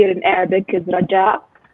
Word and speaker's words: Rajaa: Raja uh my name is how you say it in English is Raj Al but how you say it in Arabic is Raj Al correct me yes um